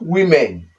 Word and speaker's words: women: Then, another example, this is women, not women. Women. The letter O here O here is E sound, then the letter E here is also E sound.